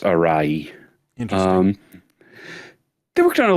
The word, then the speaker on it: Arawi: was penned by Keiichi, I believe the family name is pronounced Arai. It uses like a not commonly used hiragana anymore, so so it's written Arawi, but I believe it's pronounced Arai.